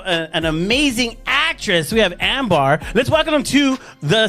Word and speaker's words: Ambar: That's why he's like, just say Ambar. And I'm like, okay, Ambar. If I said it right, it's Ambar. But I can barely roll my R's, which is so Ambar.